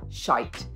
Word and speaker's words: shite: Now, one small little subtlety is that, at least in England, we use the word shite, okay?